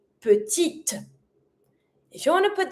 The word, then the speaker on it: petite: But because it's mute, I'm going to pronounce my letter just before that mute E. So this one here, we're going to say petite. T. And I'm going to pronounce my last T because it's ahead of my mute E.